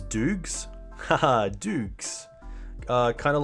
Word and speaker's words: Doogs: Haha, Doogs. Kind of like, so my real name is, which rhymes with Google. So I guess if you take Google and just like Googs and then Doogs.